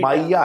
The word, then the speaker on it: माइया: हो रही है माया सो वो माया नहीं है माइया है वो वहां का ये प्रोनाउंसिएशन ये है उसमें उसने एक पर्टिकुलर